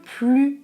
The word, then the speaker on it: plus: Je prononce c'est le plus jeune du groupe. Je pensais que Jacques était plus grand. Je ne prononce pas le S.